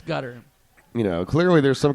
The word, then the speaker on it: Qatar: ply the world cup from cutter or qar or you however you want to pronounce it gutter it's gutter you know clearly there's